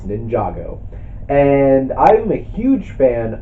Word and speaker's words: Ninjago: or at least I didn't know how to pronounce it when they first announced this movie, but now I know it's Ninjago.